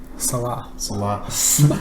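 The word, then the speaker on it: Saleh: Salah. Like Mo.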